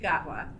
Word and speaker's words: Gatwa: if you can say chovsky you can sayi gatwa and that's correct you can you can do